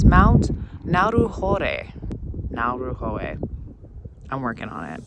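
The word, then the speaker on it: Ngauruhoe: gave me an opportunity to look up the pronunciation and it's Mount naru now R ho I'm working on it y so beautiful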